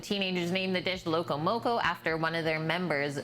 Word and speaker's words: moco: Spanish for crazy they tapped on moco which rhymes with local and it just sounded